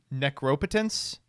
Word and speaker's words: Necropotence: well the problem is the right way to pronounce that is necropotence but like it just sounds wrong we got 24 more